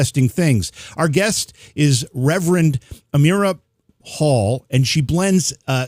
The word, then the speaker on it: Amirah: pronounce before is it amira am i doing that right you said it right yeah it rhymes with a miracle yeah well it's uh